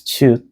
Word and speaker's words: 치읒: And this is 치읒, which sounds like English CH sounds like chocolate, chancellor, chance, like 촬영 and 축구.